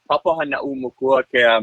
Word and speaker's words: Papahānaumokuākea: I had to practice this a lot before my first interview. It's pronounced the Papahānaumokuākea Marine National Monument.